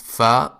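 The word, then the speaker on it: ف: it in English and it is pronounced fa like in the word feather in the beginning the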